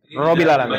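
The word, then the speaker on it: ربِّ العالمين: Robbil alamin harusnya di itu ada tasdid. Robbil alamin. Bacanya Robbil.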